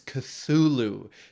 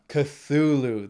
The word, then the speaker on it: Cthulhu: times do i have to tell you it's cthulhu th it's a soft th it's not a hard t it's cthulhu say it with me three two one cthulhu one more time three two one cthulhu there you go it's not made for human